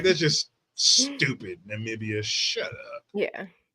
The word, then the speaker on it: Namibia: right though I I am sure I'm saying Namibia right yes oh they have the right to